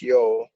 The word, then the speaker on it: Yule: celebrations of the vikings yule or pronunciation yo but we're gonna call it yule was the time between